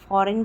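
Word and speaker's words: foreign: वहां पर ठीक है ऐसे ही फॉरेन भी है फॉरेन में भी एन पहले आया एन के पहले जी आया हुआ है ऐसे ही नोम में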